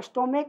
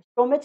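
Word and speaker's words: stomach: देखो स्टोमेक क आता है, स्टोमेच नहीं होता है, स्टोमक, समझ ना, तो यहाँ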